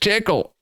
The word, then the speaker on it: Tcl: get to school back you're supposed to say it like this back in my day back in my day back in my day we used we all used tickle and we walked both